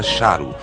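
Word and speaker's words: šarru: Também aqui supunha-se que a palavra repetida representasse rei, era pronunciada charu.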